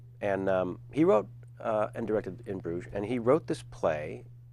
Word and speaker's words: In Bruges: Everyone help me because I'm going to mispronounce it. In Bruges? In Bruges. In Bruges. After 47 tries, I got it right. In Bruges.